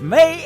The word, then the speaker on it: Mae: But her name, Mae, is spelled M-A-E.